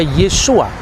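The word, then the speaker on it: Yeshua: Yesus ketika dia orang Yahudi dia pasti membaca yesua yang percaya bahwa Yesus itu Mesias pasti membacanya yesua hamasiah nah yesua H masiah itu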